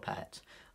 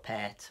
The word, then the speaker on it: Pärt: Hi, this is just a short video looking at the compositional style of Arvo Pärt, or Arvo Pärt, or Pärt, depends how you want to pronounce it.